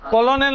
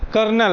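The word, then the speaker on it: colonel: কি উচ্চারণ হবে লেফটিনেন্ট ঠিক তেমনি কলোনেল আছে একটা কলোনেল এটা আসলে কলোনেল নয় এটা কর্নেল বলে তো এর উচ্চারণের পিছনে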